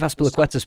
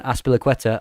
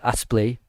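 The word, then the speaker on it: Azpilicueta: Because and also Thomas Tuchel calling Aspilicueta Aspli was the highlight, and then Pulisic saying you're saying his name wrong.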